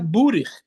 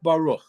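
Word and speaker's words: ברוך: If a word is Baruch, the way it's pronounced in normative Ashkenazic pronunciation, it's not Burich. Burich is not Baruch.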